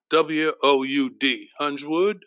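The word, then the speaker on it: Huiswoud: In addition, a comrade named Otto Hunsword, his last name, H-U-I-S-W-O-U-D, Hunsword, I think it's pronounced.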